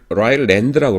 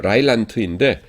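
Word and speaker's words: Rylands: 라일란드, 그러니까 영어로 쓸 적에는 라일랜드라고 그러고 독일어로 발음으로는 라일란트인데 그 사본학에서는 이제 독일어를 공용어로 보통 사용합니다.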